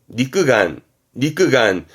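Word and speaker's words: 肉眼: 발음은 강가, 강가에서 음은 강이에요. 강가. 안구. 네, 눈알 안구입니다. 강큐. 그렇죠. 유관이지요. 네, 니끄간.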